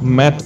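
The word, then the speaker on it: Mei: my heart has exploded me pronounced my means plum in Chinese molani announced her arrival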